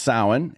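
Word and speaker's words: Samhain: started as a pagan festival called sin which is not how you think it is spelled sin is spelled s a m ha a i n or something that looks like that in Celtic runes so but it's pronounced sin and it was a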